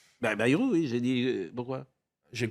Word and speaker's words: Bayrou: Avançons s'il vous plaît, monsieur Bayrou, qui était hier vous l'avez bien prononcé. Bayrou, oui, j'ai dit...